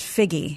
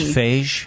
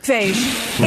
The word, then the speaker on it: Feig: I have it here pronounced Figgy. Oh, I could be completely wrong. I think it's Phage. Phage. It is spelled like beige.